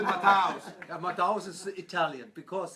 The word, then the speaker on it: Matthäus: Is it Matthews? Is it Matthäus? Matthäus, right? Matthäus. Yes, I was yes, right, you see? yes, yes, You right. say Matthews. You say Matthews. I said Matthäus.